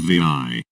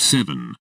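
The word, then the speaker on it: VII: Maybe some of you will remember a character by the name of Vi, pronounced 7, as it's the Roman numeral for the number 7.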